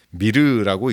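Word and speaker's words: myrrh: 상징하는 것이죠 마지막 모략입니다 영어로는 미르라고 읽고요 어원은 알아보러서 매우 쓰다라고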